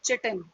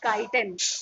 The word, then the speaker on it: chitin: It is specially made up of chitin, or someone pronounces it as chitin. Okay, you can pronounce it in either form, either chitin or chitin, कैसा भी बोल सकते हैं आप.